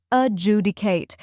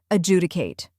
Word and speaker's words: adjudicate: able to pronounce it with confidence the correct pronunciation is adjudicate let's break it down first we have uh